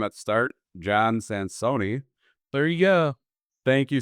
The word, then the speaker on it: Sansone: This was another episode of Roll Up and Roll Out with, and I'm sorry for mispronouncing your name at the start, John Sansone.